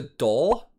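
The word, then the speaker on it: dhol: i think it's a doll if i'm saying that right i think it's spelled d-h-o-l uh double-sided sounds awesome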